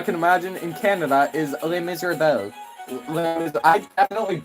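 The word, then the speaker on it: Les Misérables: My god, the pronunciation is Les Miserables.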